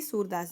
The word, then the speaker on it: सूर: सुर सुर नहीं है, देखो प्रोनाउंसिएशन में ध्यान देना। सुर सुर का मतलब होता है लय ताल, जो संगीत का सुर होता है। लेकिन यह है सूर। सूर मतलब होता है बच्चों अंधा।